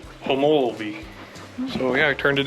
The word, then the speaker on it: Homolovi: and finding out how the official way to pronounce the state park is homology so yeah i turned